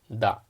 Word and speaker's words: だ: of characters and sounds so by adding the thin or quotation marks to ta here it becomes da and if you add